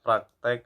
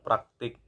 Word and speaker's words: praktik: kan ternyata itu salah yang benar adalah praktik akhirnya Ih bukan X = bahasa sebelumnya dengan